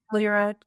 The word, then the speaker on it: Telluride: Telluride? Is that how you say that? Telluride.